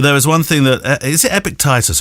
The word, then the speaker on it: Epictetus: is one thing that epic titus or epictetus epic tide pronounced titus Epictetus said about acting on